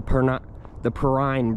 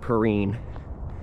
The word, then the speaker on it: Perrine: All right, guys, I've been pronouncing it wrong. It's actually the Perrine Bridge, not Perrine.